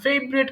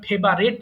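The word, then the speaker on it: favorite: হচ্ছে এরপর দেখো মাই ফেভারিট কালার সরি এটার উচ্চারণ কিন্তু আমরা অনেক সময় ফেভারেট বলি এটা হবে ফেভারিট ফেভারেট ফেভারিট ফেভারেট ওকে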